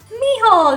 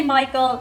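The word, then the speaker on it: Mícheál: and this one is miall did you say Michael no we have our own pronunciation you see so a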